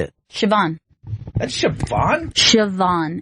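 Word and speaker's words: Siobhan: don't I don't even know how to even pronounce that name say it sioban that's sioban sioban it's Irish huh a little Irish girl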